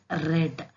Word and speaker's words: read: each thought grow grew read red here the spelling is similar but the pronunciation long you have to read it in another form write a root see